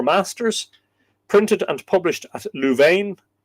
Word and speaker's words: Louvain: Michael O'Clery, the chief of the Four Masters, printed and published at Louvain. How do you pronounce that? It's French. Louvain. Louvain.